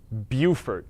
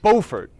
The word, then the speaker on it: Beaufort: and it's not fair when people say versaless or buford no it's beaufort and versailles it's hugey not huger